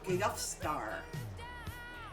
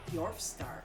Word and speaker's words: Yorfstar: Yorfstar. Yorfstar. Yorfstar. Like dwarf star.